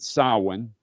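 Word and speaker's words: Samhain: Corgan NWA Sin and it's spelled S A M H A I N but you pronounce it Sin pay-per-view and that's the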